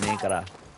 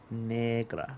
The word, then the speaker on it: negra: We're going to call them a negra. Negra. What the? Negra means black. It's Spanish. I promise. Um, you got to roll your R when you say it.